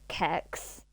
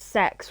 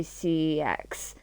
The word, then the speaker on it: CeX: my dad pronounces it, Kex, because I guess, well, to be fair, he said Kex, I went, you do realize it is pronounced sex, right?